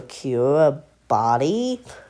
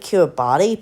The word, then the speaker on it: Kiribati: Myanmar or Kiribati? I pronounce it Kiribati, but it's pronounced Kiribati.